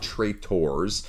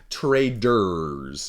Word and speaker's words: Traders: No, not traitors. I know my Michigan accent is horrible at times. Traders, if you will.